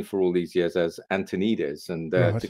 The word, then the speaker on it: Antoniades: Antoniades. There you go. You got it. Perfect. That's actually really helpful. Antoniades. Yeah. Antoniades. That's how it's pronounced.